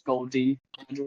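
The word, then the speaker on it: Gol D. Roger: so it's it's not it's not gold version it's gold Drew that's how you say it that's a spoiler okay yeah my bad we'll call I'm Gold Roger.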